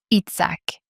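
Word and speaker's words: יצחק: Son nom signifie « il rit », Itzhak. Itzhak. Itzhak. Et la deuxième partie de la syllabe est comme un son guttural, un peu comme si vous vous grattiez la gorge.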